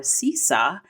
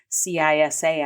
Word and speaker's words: CISA: and infrastructure agency or sisa cisa I think that's how they say it anyway they warned against